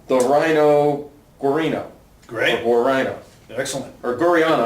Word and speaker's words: Guarino: Or Guarino. Excellent. Or Guriano. I believe it's Guriano. I think that's how you pronounce it.